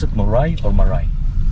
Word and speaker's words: Moray: Is that how you pronounce it, Moray or Maray? Moray.